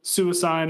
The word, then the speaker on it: Suicune: set I mean suicune suicide is the correct pronunciation for everyone watching yeah according to me